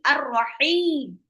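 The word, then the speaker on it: الرَّحِيم: Alazizi arrahim. Arrahim. Alif lam syamsiyah. Ah lupa ditulis. Alif lam syamsiyah itu alif lamnya tidak bisa tidak dibaca jelas karena dia bertemu dengan ro arrahim.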